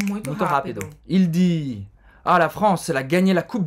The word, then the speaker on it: la France: La France. Roberta já deu uma dica para fazer esse R bem gutural.